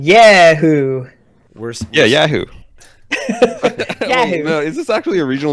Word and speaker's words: Yahoo: saying yeah who yeah Yahoo is this actually a regional difference thing like what the it's I think I think we're emphasizing the second syllable and you're like how